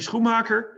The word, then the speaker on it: Schumacher: first of all uh my name is schumacher if you pronounce it like we do in the in in the netherlands um i'm the owner